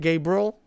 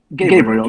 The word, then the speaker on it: Gabrail: Is that how you say it, Gabriel? Gabriel, just the regular Gabriel.